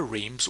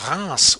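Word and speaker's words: Reims: I want to tell you about the Reams Wine Fair or the Ras Wine Fair as the French would pronounce it.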